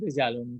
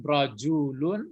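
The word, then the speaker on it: رَجُلٌ: Jangan rijalun. Rajulun. Yang rijal itu laki-laki banyak nanti.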